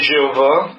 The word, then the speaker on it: Jéhovah: C'est Yud He Vav Y H V H, qu'on prononce aujourd'hui Jéhovah.